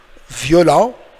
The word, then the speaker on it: violent: Le T est muet, as you know, silent letter. So, violent, it's like violent. So, same spelling, but it's somehow different pronunciation.